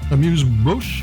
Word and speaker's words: Amuse Bouche: This is the Amuse Bouche, and I actually looked up how to pronounce it from Trader Joe's at $11.99.